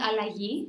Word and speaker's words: Allagi: butcher the spelling or the pronunciation can you pronounce it for me yeah it's called allahi which means transition or change okay and did